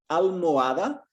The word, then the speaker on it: almohada: Almohada. Almohada. The H is silent, so it's almohada.